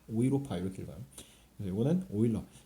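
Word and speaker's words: Euler: 사람이 이름을 요렇게 붙였다 오일러 상수 e 아 독일어에서는 이유를 오이라고 읽어요 그래서 유럽도 영어에서는 e o 유럽이라고는데 독일어에서는라고 저을 안고 오이로파 오이로파 이렇게 읽어요 그래 요거는 오일러 영어권에서는 일러를 러라 읽어요 율러 어쨌든 거를 오일러 상수라고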